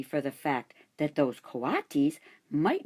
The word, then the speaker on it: coatis: "They are coatis," Mrs. Brisbane said, reading from the letter, "pronounced co-a-tis."